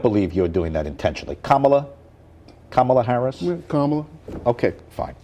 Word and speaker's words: Kamala: the way there's been a debate of a pronunciation of Kamala Harris I don't I don't believe you're doing that intentionally kamla Kamala Harris kamla okay fine it's just to